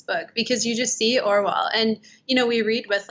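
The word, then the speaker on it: Orual: I say Orwell. Yeah. Okay, Orwell. I'm terrible with pronunciation, so I don't ever trust myself.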